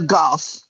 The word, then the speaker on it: Garth: It's the real golf. People don't pronounce the th for my name. It's just golf.